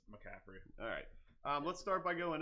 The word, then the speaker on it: McCaffrey: though like pronounced that I've always said that Capri no no it's McCaffrey alright let's start by